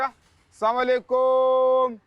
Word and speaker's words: السلام علیکم: السلام علیکم کی جگہ السلام علیکم. تو یہ تلفظ کیا ہے؟ السلام علیکم, السلام علیکم. السلام علیکم, السلام علیکم. السلام علیکم. السلام علیکم. ہاں یہ درست تلفظ ہے.